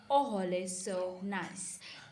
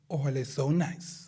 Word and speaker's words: Ohole So Nice: The host of Ohole So Nice, Hanchika Pofi. Yeah, boy. Actually, you said it wrong. It's Ohole So Nice.